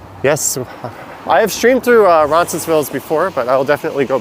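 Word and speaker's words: Roncesvalles: i have streamed through ronsonsville's before but i'll definitely go back yes i pronounced the s on the end of it i know that's a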